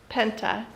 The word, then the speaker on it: Penta: Volvo Penta? No R in it. You say Washington too? Say the name of the engine. Volvo Penta. Penta.